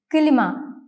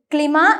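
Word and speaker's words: klima: മറ്റൊരു ഉദാഹരണമാണ് കിലിമ. കിലിമ. കിലിമ means air conditioner. കിലിമ എന്ന പദത്തിൽ കെ, എൽ എന്നീ 2 ലെറ്റേഴ്സ് ചേർന്ന് വരുമ്പോൾ ക്ലിമ എന്നല്ല വായിക്കേണ്ടത്, കിലിമ എന്നാണ് വായിക്കേണ്ടത്.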